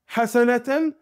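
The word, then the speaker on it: حسنة: vois que cette parole Hassana et si on la prononce correctement en langue arabe on dira lorsqu'on la prononce complètement en vocalisant chacune des lettres hassanaten et bien ce terme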